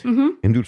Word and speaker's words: Hindutva: The movement, and if I mispronounce this, please correct my pronunciation. Hindutva, is that right? Hindutva, Yep.